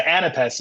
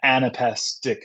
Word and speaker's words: anapest: Whereas the anapest is two unstressed syllables followed by a stressed syllable.